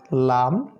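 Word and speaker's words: لام: আচ্ছা জি আমরা শিখলাম প্রথমে ল্যাম্পের মত লাম তারপরে আমরা শিখলাম চাঁদ তারার মত নুন এটাতে নুন নুনের নাক ব্যবহার করতে হবে আর লামে আপনার জিহবার অগ্রভাগটা উপরের তালুর সাথে একটু ধাক্কা লাগবে লাম এবং দুই ঠোঁট একত্রিত হবে লাম লাম লাম এটা হলো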